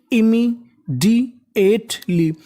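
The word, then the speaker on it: immediately: और एम दो बार है। उच्चारण एक बार करना है। तो मीनिंग बन गई इमीडी एेटली।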